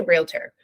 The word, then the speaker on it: realtor: how do you say realtor realtor what about realtor no that's not it I didn't think so not correct just food for thought we're Realtors real not real letters realtor yeah people seem to